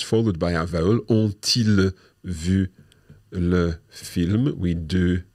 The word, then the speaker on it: ont-ils: Well, that's a wee bit tricky because the T of ont, which is going to be our first word, is going to have to liaise with the I of ils. Mm-hmm. So it's going to sound like ont-ils vu le film?